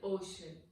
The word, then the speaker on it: ocean: And the ocean is named as Indian Ocean.